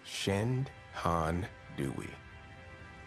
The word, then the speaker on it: Shenandoah: it still lures dear the name shenendoa is likely derived from the Native American language Algonquin pronounced shend Han doy one translation interprets it